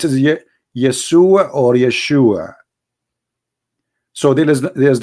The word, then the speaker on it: Yeshua: pronounce the correct word the correct word in the Hebrew is Yeshua as simple as that so it's because it's